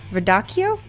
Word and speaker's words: radicchio: a 38 there we go good oh it's pronounced k vid Akio radicchio are you sure da ki oh okay I